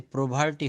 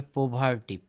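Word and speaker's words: poverty: এখানে একটা ভুল উচ্চারণ হয়েছে, প্রোভার্টি হবে না, এটা হবে পোভার্টি, পো, পিও, পো।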